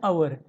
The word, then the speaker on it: hour: For example, an hour. Here, hour starts with H. H seems like a consonant sound but its pronunciation is like a vowel sound.